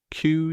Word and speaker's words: queue: things waiting in order now the spelling tip it's spelled q u e now that you know it you